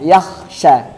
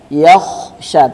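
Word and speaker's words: يخشى: Ayat berikutnya wahua yakhsya ko ingat sukun dia bacanya bukan yak biasanya dia tipis arahnya yakhsya. Yakhsya tapi yakhsya. Yaksya tebal.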